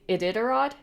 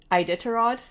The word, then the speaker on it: Iditarod: all right dog sled races I'm going to pronounce this wrong because I've never heard it said out loud the idod idod i d i t a r o d